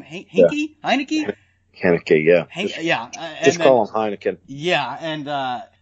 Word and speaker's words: Heinicke: how do you say his name hey hey hi Nikki okay yeah yeah yeah and and Cam Newton